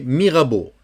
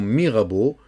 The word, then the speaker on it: Mirabeau: Sous le pont, on ne prononce pas le T, Mirabeau. Tu sais que E-A-U, c'est O. Tu écris O. Sous le pont Mirabeau, coule, O-U, c'est OU.